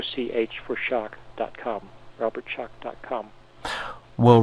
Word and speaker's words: Schoch: calm WW Robert Schoch and that's s CH for shock SCH o CH for shock calm Robert Schoch calm